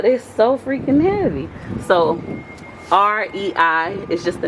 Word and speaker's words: REI: He said it's just REI. I'm like, REI Co-op? He was like, yeah. So that's how you say it, REI. It's just the initials.